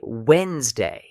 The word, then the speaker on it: Wednesday: Pronouncing every letter in Wednesday. Fix. Say Wednesday.